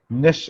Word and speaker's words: niche: Niche is the specialized segment of the market for a particular kind of product or services. Right. It's called a niche. We pronounce it as niche. Okay, so it's Niche.